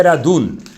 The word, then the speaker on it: Radun: A gente lê todos os livros da história do Hafetz Haim, é chamado Radin. Procure no Rav Google, Radin nem existe. Depois de muito tempo de procura, você vai ver que a pronúncia é Radun.